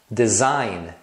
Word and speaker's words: design: tem ainda algumas palavras que terminam com GN e esse G é mudo Então você fala só o n Olha só foreign foreign tá vendo esse G você não pronuncia sign sign mesma coisa você só pronuncia o n final design design campaign campaign